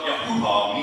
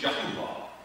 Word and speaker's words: Yahuwah: That's what Yahuwah means, Yahuwah. It's a three-syllable word.